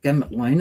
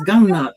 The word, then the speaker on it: Gumnut: They go a gamut lane and it's no it's not gamut lane it's gum nut like read it it's a u it's not a they a not a gamut the cuckabara song.